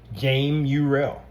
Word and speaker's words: Jame Urell: Like my mother named me Jame Urell from my dad James Urell. So my real name is pronounced Jame Urel.